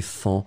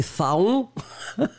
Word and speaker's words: faon: On ne sait jamais trop comment le prononcer, mais on doit le prononcer Fan, même si on voudrait le prononcer Faon. Mais malheureusement, Faon, on n'a pas le droit de le prononcer comme ça, on prononce Fan.